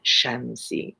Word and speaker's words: Shamsi: It's really Soraya and Shamsi and Shireen and Darab, but I make them American sounding.